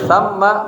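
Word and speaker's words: ثَمَّ: Kemudian ditertib dia kalau tsamma hunaka tsamma baitun hunaka baitun di sana ada rumah tulisannya sama tapi beda bacanya bimana huna di sana kalau tsumma bimanna kemudian ya nah ini perangkat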